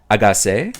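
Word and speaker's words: 아가새: We pronounce in Korean, I Got 7 sounds like the term agase. When pronounced in Korean, I Got 7 sounds like the term agase. Agase.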